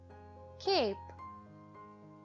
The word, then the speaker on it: cape: The word cap changes to cape as the silent E makes the vowel say its name. A, k, ape, cape, cap, cape.